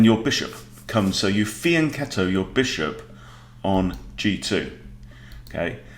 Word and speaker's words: fianchetto: people mispronounced that word it's an italian word fianchetto and in italian ch makes a k sound right it's not fianchetto right so there you